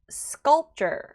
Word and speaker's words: sculpture: Sculpture. 자, 여기서는 가장 틀리기 쉬운 거는 sculpture 하고 P 발음을 주게 되면 틀린 발음입니다. 그래서 sculpture.